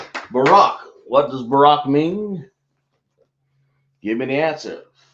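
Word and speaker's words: Barak: Barack spell it.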